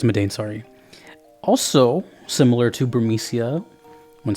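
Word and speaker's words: Madain Sari: on my list is medane sorry I never knew how to say the name but I'm pretty sure it's medane sorry also similar to burmesia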